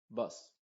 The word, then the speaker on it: bus: se diría bas pero esta es con buz buz es decir no abres tanto la boca simplemente abres un poquito No muevas los labios Y dices una e bus bu y en la